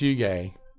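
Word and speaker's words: hygge: thinking about doing a design called, it's spelled pronounced yuge.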